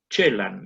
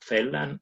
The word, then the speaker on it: Celan: Celan, como se ha dicho, es Ángel con inversión silábica y normalización ortográfica a la romana, por cuanto hay que pronunciarlo Celan, no Celan ni Celan.